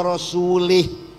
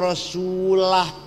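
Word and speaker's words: رسوله: Orang baca Quran salah. Ono wong baca Quran salah. Wa annallaha barium minal musyrikina wa rasulih. Allah tidak melindungi orang musyrik dan tidak melindungi Rasulullah.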